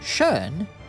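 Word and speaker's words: kön: K it means Q the Q pronounced shun it means gender so or sex I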